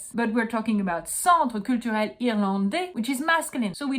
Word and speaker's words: Irlandais: And you're not allowed to pronounce the S. I know, in French we put letters that we don't pronounce. I'm sorry, I didn't create the French language. All I can tell you is that if there was an E, you would be allowed to pronounce the S. But there's no E, so you don't pronounce it.